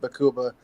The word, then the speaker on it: Baqubah: It's really Arabic, and it's really a deep-throated Bakuba. So I couldn't even do it justice, really. But that's how we pronounce it.